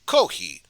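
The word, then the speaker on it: コーヒー: japanese culture and then there's also kohi or kohi which is japanese pronunciation of coffee so you could imagine the f but instead it's just kohi cause if you got rid of the f sun it kinda sounds like coffee with kohi koki is very popular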